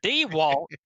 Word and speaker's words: DeWalt: I think D DeWalt I almost added like three syllables to his name there D Walt Mike the Walt is